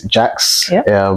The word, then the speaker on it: Jax: Yeah, so my name is Jax, or, if you want to say it the French way.